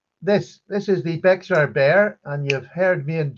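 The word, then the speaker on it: Bexar: This is the Beexar Bear. And you've heard me and Justin talking about these the tactile term bay. The tactile term bay with an X in the middle of it.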